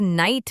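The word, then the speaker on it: knight: जी हां, जैसे लफज़ नाइट में के नजर आ रहा है।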